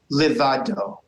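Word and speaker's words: לבדו: Livado. Oh, livado. Yes, not le.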